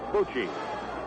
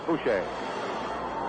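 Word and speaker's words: Bouchee: Coming up to the plate now will be Ed Bucci. He spells his name B-O-U-C-H-E-E. Edward Francis Boucher, or Bucci. I think the pronunciation for his name actually is Boucher.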